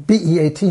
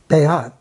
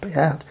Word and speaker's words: béat: And French, in French Canadian, B-E-A-T means something. Béat. It has an accent and it's pronounced Béat. It's not pronounced beat, but it's pronounced Béat.